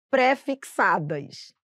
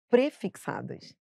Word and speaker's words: prefixadas: Por exemplo, as pessoas falam parcelas préfixadas, infelizmente não vai poder falar assim, são prefixadas e aí você vai gravar junto, entendeu?